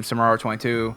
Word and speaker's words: SR22: call me easier is my nickname SR22 is how you say it I'm the head coach